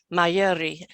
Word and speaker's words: Mayuri: guests for you today they are banji and mayuri have i said it right or have i